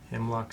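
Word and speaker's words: Hymlocke: Himmllock spelled phonetically like it sounds.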